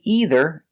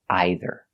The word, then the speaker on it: either: Some people say either, and some people say either. All of it is correct. Personally, I say either.